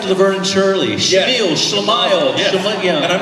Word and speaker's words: Schemmel: And I'm just Schemmel. But I call him Schemmel. Everybody calls me Schemmel also. I call that my Stefan or name. That's like Laverne and Shirley. Schemmel, Schlemile.